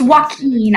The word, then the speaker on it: Joaquin: There's like a Wait, W in the middle Joaquin?